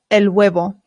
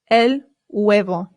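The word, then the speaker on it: huevo: The H in Spanish remember is always silent. Always. Always. Always. I always hear Americans say and that is not correct. It is elo.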